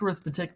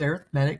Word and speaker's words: arithmetic: yes it looks like arithmetic but it's pronounced arithmetic because it's an adjective and arithmetic sequence is